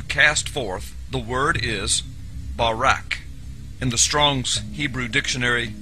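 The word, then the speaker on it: ברק: the Hebrew word is barak. So lightning, or a flash of light, in Hebrew is pronounced barak or barak.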